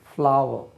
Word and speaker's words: flour: ஃப்ளாவர், அது ஃப்ளா உச்சரிக்கக்கூடாது, அது நான் சொல்ல மாட்டேன். ஃப்ளாவர், ஷாவர், டாவர், பாவர் அப்படின்னு சொல்லணும். FLOUR, மாவ், ஃப்ளாவர். நம்ம ஃப்ளோர்னு தப்பாக உச்சரிச்சிருப்போம். ஃப்ளாவர்.